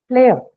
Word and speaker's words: player: You have two syllables, play and a. Is a schwa, so we are not bothering with it, right? No stress on that. So the stress is on the first syllable, play. And first the first sound of the stress syllable, so it is aspirated.